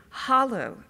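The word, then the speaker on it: Halle: He is the Vice Provost for Global Strategies and Initiatives and Director of the HOLLO Institute, which I always say Holly, and he's trying to help me pronounce it correctly, Institute for Global Learning at Emory.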